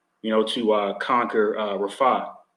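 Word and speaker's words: Rafah: know to uh conquer Rafa okay which really in the Hebrews pronounced rapay okay which is which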